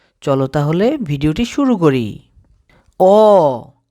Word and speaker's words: অ: তাহলে ভিডিওটি শুরু করি অ সঠিক উচ্চারণ হলো অউ স্বরে অ বা স্বরে অ পড়বা না কি পড়বা অ আরেকবার